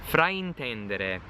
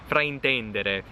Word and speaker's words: fraintendere: Fraintendere or fraintendere. Probably needs a more open E. Sometimes I tend to tighten my E's a little too much. Fraintendere.